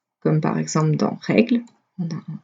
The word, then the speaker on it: règle: Je dis pas règle, je dis règle.